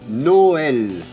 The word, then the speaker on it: Noël: Por ejemplo, la Navidad, Noël, Si no pusiéramos el acento le diríamos Noel, Noel, ya que, bueno, sería un poco como un acento tónico, pero la diferencia es que es todo apoyado igual. En vez de decir Noel, Noel, digamos Noel. Citroën, Citroën.